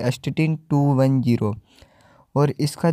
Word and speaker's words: astatine: तो इसको प्रोनाउंसिएशन किया जाता है एस्टेटिन, और अपीरेंस जो है